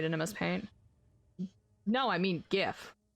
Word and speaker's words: gif: mspaint no i mean gif it's not pronounced jiff like the peanut butter um the ato tuber